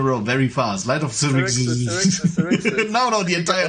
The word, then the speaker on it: Xerxes: And it's called Light of Xerxes. It is That's an how it's pronounced. all-new Light of D&D Xerxes. Obviously, Okay. Xerxes, Babs. How are you gonna say it? Xerxes.